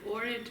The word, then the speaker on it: Urad: Urad.